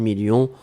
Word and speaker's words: millions: à la fin 2 millions on ne prononce pas le s mais il est là ensuite signature mais ici